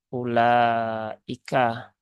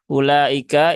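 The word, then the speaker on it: أولئك: ya enggak apa-apa ya ulaika ini u-nya tidak dibaca jadi ini bukan ulaika tetapi ulaika ya dia e wunya dibaca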